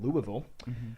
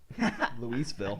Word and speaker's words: Louisville: Cornerback from Louisville. I think. Putting him It's Louisville. Louisville. I'm worried about pronouncing his first name, but I'm pronouncing the school wrong.